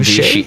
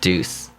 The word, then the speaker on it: Douches: His name is spelled Douches. I think they call him Douchey. I think they call him Douchey. Oh Okay. Or or just Deuce.